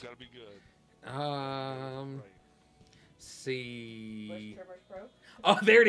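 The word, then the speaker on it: Busch: Was it B-U-C-H-E? S-C-H. S-C-H. Like the beer. Like yeah. Bush.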